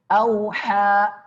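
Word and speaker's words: أوحى: Auha, perhatikan auha, ha tengah tenggorokan, sekali lagi jangan sampai auha artinya bisa berbeda ya, artinya bisa berbeda ya.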